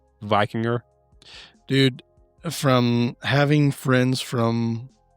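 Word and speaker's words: víkingr: So, did you know the word Viking likely comes from the Old Norse Vikr, meaning pirate or raider? I'm saying it wrong. It's spelled Vikingr. Vikinger.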